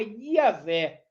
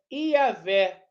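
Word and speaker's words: Yahweh: é maioria dos estudiosos pensa que a pronúncia original do tetragrama bíblico é yaveh com h e o w e entre eles há incerteza sobre a vocalização como i.a.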